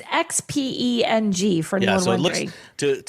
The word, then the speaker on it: Xpeng: X is Xiao. So Xiao, and then it's not Peng, it's Peng? Yes. Because it's Xpeng for anyone wondering.